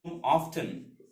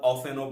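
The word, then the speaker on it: often: হি sweeps his room অফটেন এই অফটেনটা হচ্ছে প্রায়, এর উচ্চারণ অফটেনও বলা যায়, আবার অফেনও বলা যায়।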